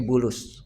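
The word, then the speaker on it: بولس: Ba lam sin. Ya, dibacanya Bulus. Kalau sekarang Paulus. Ya.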